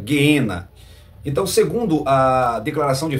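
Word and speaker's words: γέεννα: Ades o guena tá ou geena no grego se pronuncia geena então segundo a declaração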